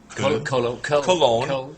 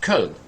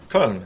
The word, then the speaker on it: Köln: Cologne. Yeah. How do you say it? Köln. Köln.